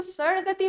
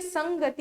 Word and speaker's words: संगति: ठीक है, अब इसको सड़गति मत पढ़िएगा, ठीक है, संगति ही होगा।